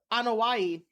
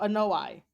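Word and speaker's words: Anoaʻi: the uh they pronounce it as uh uh on hawaii but oh yeah they pronounce it as that instead of a no i um yeah so the anawai and fatsu family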